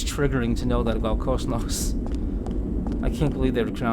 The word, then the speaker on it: Cosmos: In Xenoblade Chronicles 2, they pronounce the O in Cosmos with a short vowel sound.